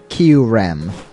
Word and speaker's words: Kyurem: I always pronounced it Kyurem. Kyurem. Like, you barely pronounce the U.